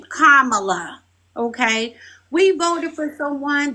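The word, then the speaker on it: Kamala: Kamla.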